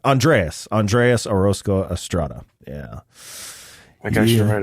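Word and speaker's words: Orozco-Estrada: I was trying to roll my R. I'm just gonna say it like a white boy. Orozco Estrada. Andreas Orozco Estrada.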